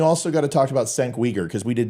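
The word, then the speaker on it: Cenk Uygur: That's how you pronounce his name. Thank you. I never knew that. It was Senk. Well, no, I used to call him Chunk Uyghur, I think is what I called him.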